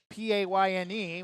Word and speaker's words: Payne: That's the inbound to or pain I should say. It's spelled maybe a typo. It's spelled P A Y N E, which is how we're pronouncing it.